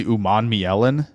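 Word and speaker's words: Umanmielen: I can't wait for people who haven't found out already that it's Uman Mielen. Princely Uman Mielen is how you say that.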